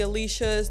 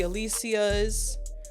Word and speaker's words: Alycia: First off, shout out to the Alishas, the Alycias. Right? If I got a dollar for every time someone mispronounced my name as Alisha versus Alycia because that's extra syllables, I'd have Jeff Bezos' money right now.